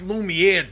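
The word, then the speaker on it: Lumière: It's pronounced Lumiere, dumbass.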